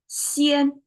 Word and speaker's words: 鲜: Today, same pronunciation, but flat tone, xian. And xian is, well, translate directly